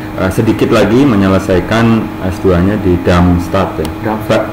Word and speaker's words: Darmstadt: Malik sendiri masih sedikit lagi menyelesaikan S2-nya di Darmstadt. Ya. Bacanya itu Darm apa Darm? Darmstadt. Oke, di Jerman.